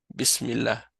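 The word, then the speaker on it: بسم الله: Il écrivent directement comme ça bismillah mais en réalité c'est bismillah hein mais on prononce pas le alif on dit directement bismillah donc ici et on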